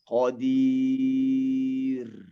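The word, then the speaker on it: قدير: Maka bacanya qadir. Nah, ini tipis. Qadir. Jangan dibaca qadir. Tidak. Bacanya qadir. Tipis dia.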